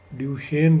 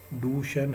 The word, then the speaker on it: डूशेन: Actually इसको हम ड्यूशेन लिखते हैं, लेकिन इसकी जो प्रोनाउंसिएशन है वो डूशेन है।